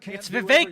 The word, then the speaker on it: Vivek: Vivek you recently said president Vivek it rhymes with cake for